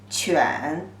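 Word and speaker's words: 犬: a kind of dog the pronunciation is third tone chuan a dog and when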